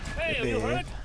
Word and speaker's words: Detlev: Mit weich ausgesprochenen E. Detlev.